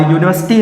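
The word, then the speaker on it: university: Friends, यहाँ पर यूनिवर्सिटी है और यूनिवर्सिटी है तो प्रोनाउंसिएशन किसका हो रहा है? यूनिवर्सिटी, या का।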